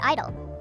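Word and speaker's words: (G)I-DLE: For example, let's talk about Idol. The name is pronounced Idol, but the silent G is there to represent girl, making it Girl Idol or simply Idol.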